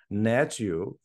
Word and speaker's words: Hnatiw: was completely shocked by the way you pronounce your last name you pronounced it natu and for a second